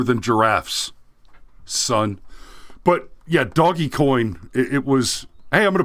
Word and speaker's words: Dogecoin: buy some doggy coin oh is that how you pronounce it it's doggy coin yeah i keep hearing people say dogecoin but you're missing the joke guys the coin has a dog on it the right okay so